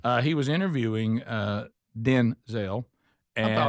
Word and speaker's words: Denzel: His his name is pronounced Denzel, not Denzel.